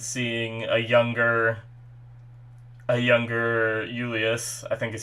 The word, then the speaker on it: Julius: like that thing where the j is more pronounced as like a y or something or just silent because i'm pretty sure